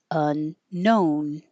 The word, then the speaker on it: unknown: I made this in little because if I just put N O N, it would maybe make you think of non. But I want you to think of just no because there's a lot of extra silent letters here like the K and the W. And we really just need unknown. Unknown.